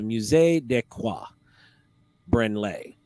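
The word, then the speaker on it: Musée du quai Branly: however today it's cataloged under other Parisian Museum the musee decois brenlay yeah that's how you say it near the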